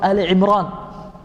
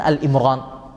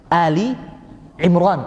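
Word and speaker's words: آل عمران: jamaah sekalian di dalam surat Ali Imron bukan Al Imron tapi apa Ali Imran keluarganya Imran kalau alimran wallahualam ndak tahu maknanya Nah ada yang baca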